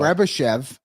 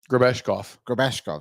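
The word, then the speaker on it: Grebeshkov: Grebashev. That's how you say his name, right? Grabeshkov, sorry.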